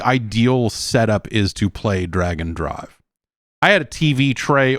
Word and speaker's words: Drag x Drive: Bryn is posting the Japanese and saying in Japanese they are definitely pronouncing it drag and drive.